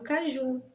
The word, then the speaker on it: caju: Sim, tem o exemplo do caju. Caju é oxítona terminada em U.